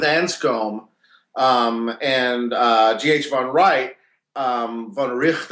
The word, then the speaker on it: von Wright: von Wright, von Richt, I think it's pronounced.